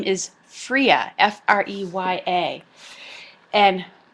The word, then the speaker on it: Freya: associated with the goddess whose name is freya f-r-e-y-a and it's pronounced freya now freya is a nordic goddess